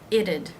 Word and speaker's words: it'd: Now when you add the apostrophe D here, it'd. You change the T to a D sound, and the apostrophe D adds a syllable. It's going to be the schwa and the D sound.